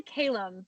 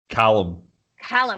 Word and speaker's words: Calum: I would say Calum, but I feel like that's not how you said it. Callum. That's what I thought.